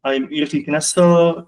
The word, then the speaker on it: Jiří Knesel: I'm Jiří Knesel. If you don't know how to pronounce it, which is a Czech specific, Jiří is okay as well.